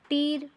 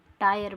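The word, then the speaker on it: tire: आय आय जैसे देखो तीर नहीं पढ़ते हैं टायर पढ़ते हैं वायरे नहीं पढ़ते वायर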